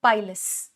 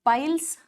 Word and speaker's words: pilus: is the plural form the singular form is called pilus not piles pilus singular is pilus this is plural form these are elongated cube like structure structures.